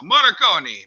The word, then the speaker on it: Morricone: I don't know if I'm pronouncing this right. I never do. Ennio Morricone, he's Italian. So Morricone. There you go.